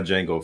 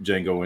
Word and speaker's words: Jango: They're spelled differently, but pronounced the same.